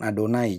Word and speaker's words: Adonai: Karena untuk mengganti kata Yahweh itu mesti diucapkan Adonai.